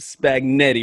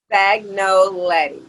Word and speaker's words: Spagnoletti: I read it, and I want is it Spagnetti, right? Is that correct? Spagnoletti. Spagnoletti.